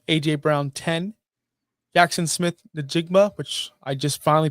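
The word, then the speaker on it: Jaxon Smith-Njigba: 7, Nico Collins 8, Drake London 9, AJ Brown 10, Jackson Smith Najigma, which I just finally pronounced that name correctly, 11, and Ladd McConkey 12.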